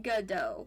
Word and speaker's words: Godot: Godot. Yeah. Okay. Yeah, you got it. The T is silent.